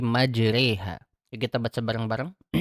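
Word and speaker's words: مجراها: Nah, jadi ketika sampai di kata majraha kita bacanya bukan majroha tapi majriha.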